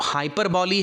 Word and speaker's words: hyperbole: कई इसको हाइपर ball भी बोलते हैं, but exact pronunciation is हाइपरबॉली, okay.